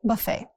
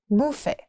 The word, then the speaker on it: buffet: Next is buffet, not buffet or buffet. In the US, it's pronounced buffet, and in UK, buffet.